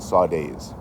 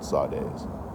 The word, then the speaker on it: saudades: In Brazilian Portuguese, there's a word for it called saudades. Now, it's not spelled how you think it was spelled. It's like saudades is how it's spelled, but it's called saudades.